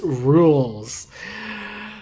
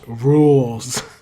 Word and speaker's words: Rouxls: But it does provide a baseline for the remix that becomes It's Pronounced Rouxls.